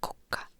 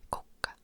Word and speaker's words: kukka: Like we have differences, like kuka in Finnish is who, and kukka is flower. Kuka and kukka.